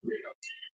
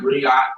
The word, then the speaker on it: griot: The Seattle GRIOT is griot. So it sounds like griot, but it's griot. So the T is silent.